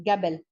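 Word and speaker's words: قبل: Arabic, not इन फुसहा, reading में ये कबल प्रोनाउंस होता है, कबल, लेकिन हमेशा जो काफ की आवाज होती है वो गाफ की निकलती है, गबल।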